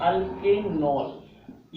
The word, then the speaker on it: अल्केनॉल: अब इसको कुछ करना नहीं है, अल्केन नॉल, जिसमें E का प्रोनाउंसिएशन नहीं होता है और लिखा भी नहीं जाता है, तो अल्केनॉल ये बन गया।